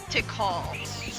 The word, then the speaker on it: Tikal: Well, I always pronounced her name as Tycho when I was a kid. But her real name's Tikal.